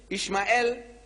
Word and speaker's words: Ishmael: I says, you know, in the book of Genesis, the first book of your Torah, no less than 12 places, Ishmael, that's how they say it.